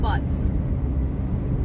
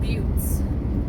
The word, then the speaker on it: butte: thought they were called butts but they're called butes and now I enjoy that